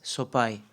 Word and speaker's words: Sopaj: so people were confused it's soai in Albania the J uh in the end it's like I soai so the J belongs